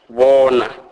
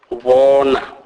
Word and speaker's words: bona: Never as in hope, as often mistakenly pronounced by white. Examples: bona, bona, which means see.